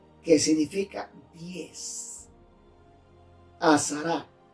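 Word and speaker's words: עשרה: Viene de una palabra hebrea, azará, que significa 10. Azará, A-S-A-R-A, acento en la A.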